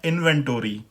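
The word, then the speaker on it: inventory: तो अमेरिकन इसकी प्रोनाउंसिएशन है इन्वेंटोरी। अमेरिकन प्रोनाउंसिएशन हो गई इन्वेंटोरी, और जो मैंने सारी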